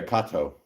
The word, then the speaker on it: Kato: uh uh Kato no is it Kato yeah Kato that's how you say it in Japanese Kato oh sd90 Mac